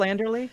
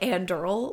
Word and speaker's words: Anderle: Michael Anderly. Yeah. I was reading it like andural like the last e was like silent letter in my head.